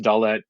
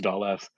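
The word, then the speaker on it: דלת: So her letter is sometimes they're pronounced Dalet, sometimes they're pronounced Daleth.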